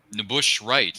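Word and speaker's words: N'Bushe Wright: know who it is hello Karen Jensen hematologist nush wri is how you pronounce her name if I'm not mistaken whatever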